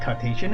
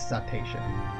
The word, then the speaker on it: cetacean: thank you google citation i was right it's not Cartesian it is citation they are the result